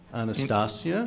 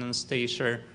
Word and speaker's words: Anastasia: Anastasia? In Russian, it is pronounced with the stress on Ia. Anastasia.